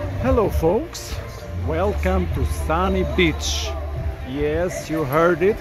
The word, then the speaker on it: Sani: it sunny beach and it's not spelt as the usual word sunny of course and for my american and english friends who don't understand how can you spell differently the word sunny i will spell it out for you it's s-a-n-i so yes sunny and comes from the